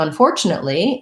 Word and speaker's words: unfortunately: i'd like to so unfortunately has the second syllable stress so that has that